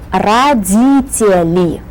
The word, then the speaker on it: Родители: Родители. Родители. That's a longer word. And this is the syllable, D, that we emphasize.